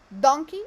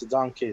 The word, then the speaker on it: donkey: Is it donkey or donkey? No, it's donkey. So is it on the first one? So donkey, no. It's donkey. Donkey. Donkey. Yes. So the first syllable will receive the stress, right?